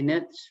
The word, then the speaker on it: niche: about Niche versus Niche I say Niche because it rhymes with Rich so just to um